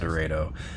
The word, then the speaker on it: Dorado: And yes, it is pronounced Dredo.